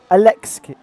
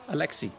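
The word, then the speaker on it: Aleksi: sorry that I say aleski and not Alexi uh how how do you pronounce it sorry Alexi like an X Al Alexi Alexi Alexi there you go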